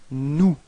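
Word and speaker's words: nous: of the plural it's new repeat no okay so you've got this final s but you don't pronounce it okay new mhm and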